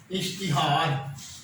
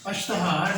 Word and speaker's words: اشتہار: لفظ ہے وہ ہے اشتہار۔ اشتہار نہیں پڑھنا، الف کے نیچے زیر ہے جی۔ اس کے بعد جو